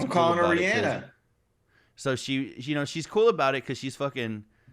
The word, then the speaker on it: Rihanna: She says it's pronounced Rihanna. Like, right. On an episode of Ellen, I remember she said, Ellen was like, there's a debate of is it Rihanna or Rihanna? And she said it's Rihanna.